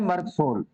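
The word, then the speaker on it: Merc Sol: ये नंबर 1 मर्क सोल, pronunciation है मर्क सोल, पूरा है मर्क सोल्यूबस।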